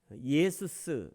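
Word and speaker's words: Ἰησοῦς: 신앙이죠 예수라는 이름이 있어요 헬라어로는 예수스 이렇게 발음합니다 예수 우리가 이제 한국어로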